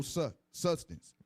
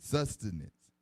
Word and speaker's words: sustenance: our fathers found no sustance sustenance sustenance sustenance say it again sustenance thank you three syllables sustenance sustenance so our